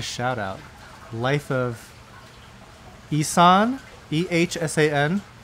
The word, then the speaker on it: Ehsan: Life of Ehsan, E-H-S-A-N. How do you pronounce that?